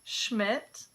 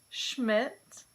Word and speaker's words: Schmidt: Some common surnames that begin with SCH also take this sh pronunciation in English. Schiller, Schiller. Schmidt, Schmidt.